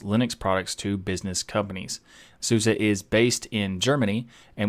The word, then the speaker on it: SUSE: develops and sells Linux products to business companies souza is based in Germany and was founded in